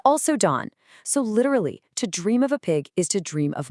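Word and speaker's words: 돈: The Sino Korean character for pig, it's pronounced dawn. And guess what the Korean word for money is? You got it. It's also dawn.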